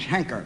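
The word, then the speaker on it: Heinker: By the way, I believe my name is Henker. H-E-N-K-E-R, Henker. You pronounce it Henker? Well, that's what they call me, Henker. Well, it's spelled with an I in it, H-E-I-N-K-E-R. Yeah, it is, isn't it? Yes. Well, maybe it's Hanker then.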